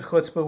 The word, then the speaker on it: chutzpah: So I pronounce it chutzpah, which is a bit more guttural.